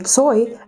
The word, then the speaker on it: Tsoi: The son toy, as we pronounce it in Russian, is literally the adapted version of the Korean surname Choi.